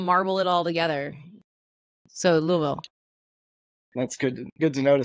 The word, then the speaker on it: Louisville: And I've been told that you say it like you have a bunch of marbles in your mouth. Louisville.